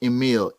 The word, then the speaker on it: Emile: to make sure people can search it and pronounce it yeah so it's Jonathan Jo and a th a N and that Emil EMI le so Jonathan and me'll yeah what